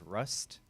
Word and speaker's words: WRUST: watching, guys, this is Rust. Sorry, what's the right way to say it? Rust? No, it's just rust. Rust, Rust. as in rust. Just like Yeah. rust. Yeah, we just Yeah, added the yeah.